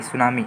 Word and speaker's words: tsunami: ठीक है, स्पेलिंग पूछा जा सकता है इंग्लिश में, तो TSUNAMI, सुनामी, MI। ठीक है, तो टी लगता है।